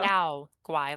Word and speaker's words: Yao guai: Yagwai. There you go. Yao Guai, like Yowie.